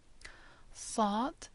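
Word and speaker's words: ص: voiced or heavy letters sod is pronounced as a heavier s and do is a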